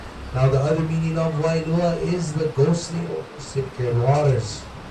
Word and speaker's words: Wailua: Now, Wua spell w a i l u a w a i in Hawaiian pronounced as vi or and that is fresh water.